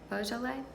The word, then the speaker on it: Beaujolais: the red which is also from the somebody pronounced it for me the boo Joel a buh-buh-buh Joel a Beaujolais God I should go to France or maybe